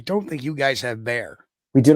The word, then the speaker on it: Bexar: I mean, obviously, I don't think you guys have bear. We do not have bears. Even though you're pronounced Bear County.